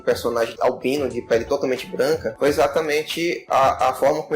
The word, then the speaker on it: Blanka: No Japão, o Blanca ele é pronunciado de Branca.